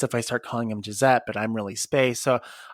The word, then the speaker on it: Jzette: It's actually Gisette Sparks, and that's spelled Jzette and then Sparks, which is Sparx.